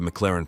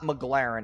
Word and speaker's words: McLaren: He dismantled Jason's rant about the McLaren pronunciation. Straight up laughing with sarcastic comments. It's not McLaren. It's McLaren.